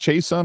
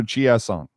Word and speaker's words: Chiasson: Hold on, is it pronounced Chason or Chiasson? Anyway, I think he's changed it every. It depends on what coast he's playing on.